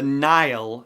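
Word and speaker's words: Nihil: series of stories the Nile that's how it's pronounced like the River Nile but spelled NIH al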